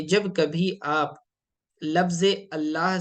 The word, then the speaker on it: अल्लाह: लाम जलाला का कायदा कि जब कभी आप लफ्ज अल्लाह से पहले जबर हो या पेश हो तो लाम को मोटा पढ़ेंगे इनल्लाह अल्लाह यानी के लाम को प्रोनाउंस करते वक्त होठों को गोल करेंगे अल्लाह इनल्लाह ठीक है लेकिन अगर लफ्ज अल्लाह से पहले जेर हो तो फिर लाम को बारीक पढ़ेंगे जैसे कि बिस्मिल्लाह में पढ़ा जाता है बिस्मिल्लाह ठीक